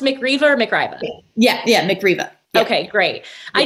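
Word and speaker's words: Mick Riva: Now you did manage to incorporate rock stars, of course, because always incorporate a little bit of, is it pronounced McRiva or McRiva? Yeah, McRiva.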